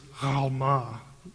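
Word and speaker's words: עלמה: Now, in Hebrew, it's Alma. The letter is pronounced in the back of the throat.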